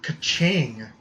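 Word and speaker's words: Keqing: with the long-haired cat i have ka-ching which is how i'm going to pronounce her name because to for what little or chinese i know that's how you pronounce her name is kaching um she doesn't have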